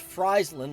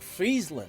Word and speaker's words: Friesland: now from what i've heard it's actually not pronounced friesland like french fries it's more like friesland like you know it's frozen it's not actually